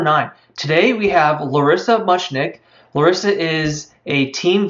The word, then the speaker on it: Muchnick: ask you again Larissa your last name is pronounced much Nick yes that's correct that's a very unusual